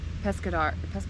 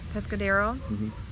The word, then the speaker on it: Pescadero: But then last night, our new friends took us to a sushi spot and it was so good in Pescador, is that how you say it? Pescadero.